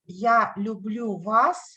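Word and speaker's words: я люблю вас: Russian and in English so in Russian yeah blue blue was in English yellow blue bus it says very cool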